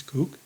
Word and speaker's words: Koch: think it's CP Coke I think it's cook I hate to say cook I think that's how they pronounce it but it it sounds